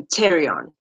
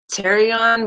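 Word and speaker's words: pterion: is known as the Tyrion oh I don't know if others would pronounce it as Terry on but Tyrion and this is a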